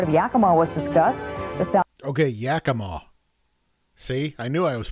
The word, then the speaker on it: Yakima: Okay, Yakima. See, I knew I was pronouncing it wrong.